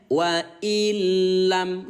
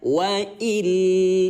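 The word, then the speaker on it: وَإِنْ لَمْ: Ya, jangan ditahan bun, bacanya biasa saja wa illam gitu. Jangan dibaca wa il, itu nggak boleh, nanti merusak makna.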